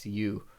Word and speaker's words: Hausu: You can type in house, but it's Hausu.